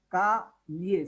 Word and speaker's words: calle: The vowel pronounces lia. Lia plus e becomes lie. Ka lie.